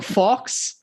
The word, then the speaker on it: faux: We're good to say fuck, but it's spelled fucks or fox suppressor, it's a fake can on the end of it, FAUX, and it's meant to